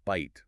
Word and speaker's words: bite: A word like bite was pronounced beat.